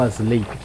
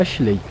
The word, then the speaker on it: Ash Lake: Ash Lake ou As Lake? Essa é Ash Lake.